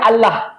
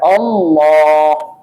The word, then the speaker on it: Allah: dimasukkan lam kepadanya watimi lam itu dibaca dengan tafkhim tebal maka tidak boleh baca Allah bukan Allah bacanya ditebalkan Allah ahah lamnya ditebal nah jangan bacanya Siapa